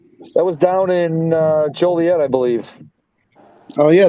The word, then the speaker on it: Joliet: was down in uh Joliet I believe oh yeah the joylit Rhymes Juliet you ever go to